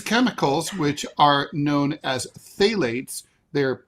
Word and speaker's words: phthalates: These chemicals, which are known as phthalates, they're spelled phthalates. They're pronounced.